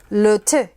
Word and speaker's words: thym: Thankfully, Marie LeTourneau gave us this handy-dandy French pronunciation. There's le bouillon. The thyme is le thé.